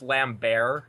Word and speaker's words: Lambert: now for the record it's actually pronounced lamb bear he's French but years of abuse